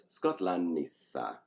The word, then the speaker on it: Skotlannissa: In the inessive, it's Skotlannissa, where the NT has become a double N.